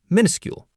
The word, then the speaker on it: minuscule: For very small, you can say tiny or if you want to sound really smart, minuscule, pronounced minuscule. Minuscule.